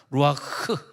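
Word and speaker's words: רוח: 루아흐라 그러죠. 루아흐, 흐 발음을 세게 해야 돼요.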